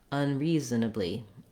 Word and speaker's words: unreasonably: So you don't necessarily have to go super, super fast, but what you want is that you have length here, and then you don't have length in these syllables.